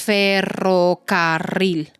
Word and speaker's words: ferrocarril: partes en sílabas todo sabes dónde va Dónde va el golpe de voz en dónde va en qué silaba El golpe de voz en el r r Así es ferrocarril y cuando lo hablas